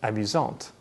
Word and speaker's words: amusante: This means that the masculine version is pronounced amusant with a silent T, and the feminine version is pronounced amusante with the T pronounced clearly.